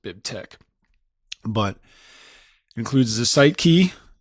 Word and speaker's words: BibTeX: It's a chi or a key in in Greek, so that's why we pronounce it Bib Tech.